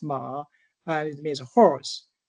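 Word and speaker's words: 马: So it's pronounced ma and it means a horse and by the way it's the year of the horse too.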